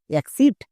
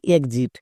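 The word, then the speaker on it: exit: তো চলো এক্সাম্পল দেখো যেমন ই এক্স আই টি এর উচ্চারণ কি হবে এক্সিট নাকি এক্সিট কোনটা এখানে দেখো এক্স শব্দ এর মাঝে আছে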